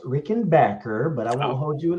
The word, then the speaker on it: Rickenbacker: doing what's up guys and um it's actually pronounced Rickenbacker but I won't hold you again but yeah